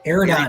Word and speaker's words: Eridani: So these guys here, tell us about you pronounce that word, I'm sorry. Eridani.